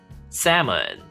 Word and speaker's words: salmon: salmon, 연어, 발음 salmon, salmon 아닙니다.